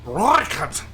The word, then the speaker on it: Rooikat: It's like you can't say Rooikat, but it's like speaking Italian without using your hands. You have to say it Rooikat, you know?